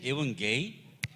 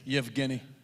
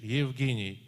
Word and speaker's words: Yevgeny: Oh, I thought it was even gay. I'm sorry. Oh, okay. How do you say it? Yevgeny. He I calls you apologize. gay. I'm teach you. Yevgeny. Even gay. No. No? Listen to me. Yevgeny.